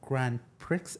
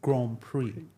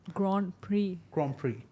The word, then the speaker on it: Grand Prix: By the way, it's not Grand Pricks, it's Grand Prix. you. The X is silent.